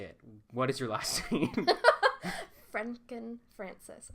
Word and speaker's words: Frenken-Francis: do I say it what is your last Franken Frances not Franken Franken France K the Frances is